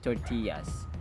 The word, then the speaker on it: tortilla: who loves to eat tortillas stupendous tortilla tortilla tortillas tortillas this word is a Spanish origin that's why two LS are equivalent of y yeah yeah for example